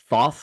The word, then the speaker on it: Thoth: It looks like Thoth, which is how you say it.